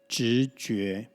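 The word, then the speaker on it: 直觉: Intuition or intuitive in Mandarin pronunciation is 直觉.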